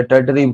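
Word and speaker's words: tertiary: नाम दिया टर्शरी industry, या टर्टरी कुछ भी बोलो, टर्शरी वैसे प्रोनाउंसिएशन है।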